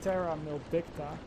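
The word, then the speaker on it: Terra Maledicta: Now, not too long into the game though, a second map was released, which was called Terra Mildicta.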